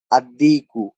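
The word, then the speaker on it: الديك: আদ-দিকু, এখানে আল উচ্চারণ না হয়ে দালটা উচ্চারণ হয়েছে।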